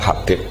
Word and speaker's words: Habib: Itu di harakatnya kitab itu ada yang nulis khubab. Yang benar Oh, nggih. Yang benar itu bacanya Habib.